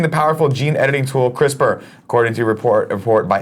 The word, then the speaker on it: CRISPR: CRISPR.